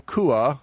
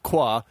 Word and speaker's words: Kua: And then last week we had a Jonathan Kua, who I had previously erroneously pronounced as Qua.